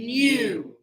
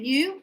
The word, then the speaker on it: knew: Know, and knew. See that new? Just like when you say, oh, brand new, it's new. Yeah. Same pronunciation, different writing, different word.